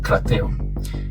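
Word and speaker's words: κρατέω: Esa palabra se pronuncia algo así como krateo.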